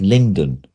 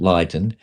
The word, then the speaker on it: Lydon: But I think it was my mum turned around to me and said, yeah, it's spelt Lydon, it's pronounced Lyndon. Oh. Okay. But because people assumed it was pronounced Lydon, then there was the connection to the Johnny Lydon in the Sex Sure.